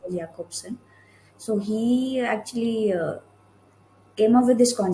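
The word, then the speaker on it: Jakobson: as like J, his name starts with a J, but it's Okay. pronounced as Jacobson.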